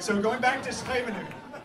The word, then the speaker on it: Scheveningen: to pronounce is that in Dutch, most CHs and Gs get pronounced ch, that thing in the back of the throat. So it's Scheveningen.